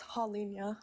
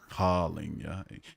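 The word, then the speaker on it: Holinha: It's Holinya. Holinya. You think the N and the H would have been the point of contention, but no, it's Portuguese, so yeah, it's its own thing.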